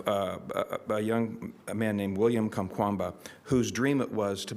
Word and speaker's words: Kamkwamba: So this year's book is The Boy Who Harnessed the Wind by William Kamkwamba, and I know that's the way you pronounce it because who's going to correct me, right?